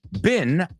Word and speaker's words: been: Been a lo British rhymes with mean. That's right. But more than words that were rhyming, I was looking for the homophone. Maybe I said rhyming words. But you're right. Bean rhymes with mean, and it's exactly the same as bean. And the second one, been, American, rhymes with bin.